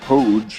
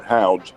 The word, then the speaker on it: Hoge: The leader is Tom Hoge. Now, you take a look at the last name, and it's H-O-G-E. Looks like it would be Hoge or Houge, but it's pronounced Hoge.